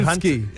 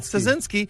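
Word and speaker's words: Ptaszynski: And those writers, Dan Schreiber and James Harkin and Anna and Andrew Tazinski. Is it? Yeah, the P is silent. Yes. Oh, is it? Tazinski Yeah.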